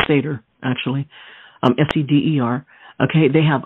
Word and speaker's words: seder: bone now represents the lamb and its sacrifice pronounced seder actually fcdr okay they have unleavened bread the